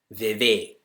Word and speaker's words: Vivek: Like when I tell people my name, though it's spelt with an E, I tell them it sounds like an A. Vivek.